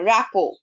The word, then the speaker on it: rapport: RT টা আমরা এখানে সাইলেন্ট থাকে, উচ্চারণ করি না। র্যাপো, RA, কোনটা বলবো বলো?